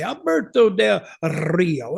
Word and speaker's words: Alberto Del Rio: so much he said every time you say his name I always roll that r and I say Alberto Del Rio and he just laughed